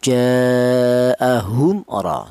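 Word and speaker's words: جَاءَهُمْ رَ: Cara bacanya jaahum ro seperti itu. Tidak boleh mim mati ini dibaca ikhfa. Apa artinya ikhfa? Ikhfa itu artinya samar. Cara bacanya mim mati ini jangan disamarkan seperti contoh hum ro tidak boleh.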